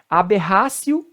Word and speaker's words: aberratio: Se a pronúncia correta é axio. Aqui do latim, axio. Outra, aberratio delicti.